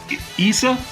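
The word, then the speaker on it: Issa Rae: So, uh we will see you next week for uh Issa. Am I pronouncing it right now, Darren?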